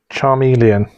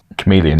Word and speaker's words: chameleon: way no I don't believe in him um Charmeleon chameleon you mean chameleon you really pronounce a chameleon chameleon I told you I'm